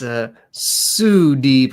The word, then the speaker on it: Sudeep: Sudeep says I've been pronouncing his name wrong. It's Sudeep, according to you, Joey. So, yeah. I'll remember that.